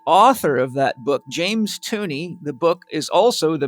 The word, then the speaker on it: Tunney: Tunney rhymes with money, funny.